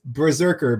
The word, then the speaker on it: BRZRKR: You gotta spell it correctly. It's all capital. It's Berserker, BRZRKR.